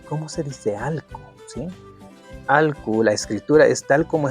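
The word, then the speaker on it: alku: Sí, alcu. La escritura es tal como está aquí. A L k u alc. La pronunciación en algunos lugares, al menos en la sierra centro, lo dicen asho.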